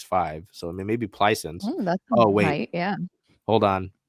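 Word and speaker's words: Plaisance: so I mean maybe pleisens oh wait yeah hold on the pronunciation Glide is play is once my apologies I believe she's from yeah yeah she went to LSU there you go um playsons little French I'm not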